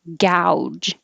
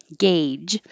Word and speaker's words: gauge: a like hey gauge this also has an au combination but it sounds like ah and sausage sausage and this one which is what some times i hear this one pronounced gouge this means to to